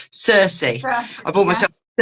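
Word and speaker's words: Cercis: I want to say Celsius. It's not Celsius. Circe.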